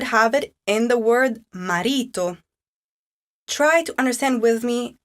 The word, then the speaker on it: marito: Where does the accent fall? Listen to it again. Marito. You have guessed correctly, it does fall on the second to last.